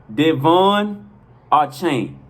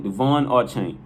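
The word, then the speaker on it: De'Von Achane: che is pronounced de devon our chain so once again okay i'll clear it up his name is pronounced devon duvonne archang all right once again devon or chain that guy is so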